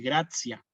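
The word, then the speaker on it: gratia: Ahora, en Gracia, en Ave María, Gracia, ahí sí, si yo tengo la T con la I y una A, ahí sí cambia la pronunciación y voy a decir Gracia, como les comentaba, ¿no?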